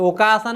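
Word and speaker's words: お母さん: তাহলে এর উচ্চারণ দুইটা, একটা হচ্ছে ওই যে কা, ওই যে ওকাসান হচ্ছে কি ওতোসান ওকাসান ওকাসান হচ্ছে কা, আর ওতোসান হচ্ছে তো।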